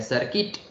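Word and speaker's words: circuit: बोलते है large quantities फिर है सर्किट तो इसमें य साइलेंट है आप सी आई आर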